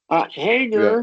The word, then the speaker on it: hanger: Hanger Yeah. is silent because hang is a word by itself.